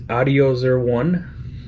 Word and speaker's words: Audiozerone: And I think the proper way of pronouncing this is Audiozerone.